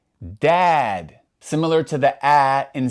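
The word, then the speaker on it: ضاد: And when they're paired with a fatha, we're going to pronounce that A sound more like aw rather than a as we do with the light letters.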